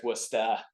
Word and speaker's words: Worcester: Hockey yeah it was so I pronounce it Worcester if you're out there it's westa uh uh but it